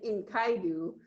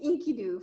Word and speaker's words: Enkidu: I thought it might have been Inkaidu, but I think it's pronounced Enkidu from what I can tell.